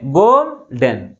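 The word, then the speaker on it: golden: ఉన్నాయి to syllables ఉన్నాయి గోల్డెన్ to syllables అయితే ఏ సిలబల్ ఎక్కువ ఫోర్స్ కి పలుతుంది ఫస్ట్ ఫస్ట్ వన్ ని సెకండ్ సిలబల్ కంటే ఎక్కువ ఫోర్స్ గా వెళ్తుంది కాబట్టి ప్రైమరీ స్ట్రెస్ ని స్టార్టింగ్ లో ఉంచుతాం అన్నమాట ఇక్కడ ఈ ఎన్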